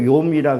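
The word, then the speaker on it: יום: 그래서 이게 이게 하나라는 거 히브리 발음으로 욤이라 그러는데 하루라는 것이 이 하루가요, 인생의 하루도 볼 수 있어요, 인생에.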